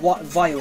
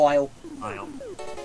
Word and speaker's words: Vile: I think he killed Vile, isn't it? That's how you pronounce it, yes. Yeah, Vile.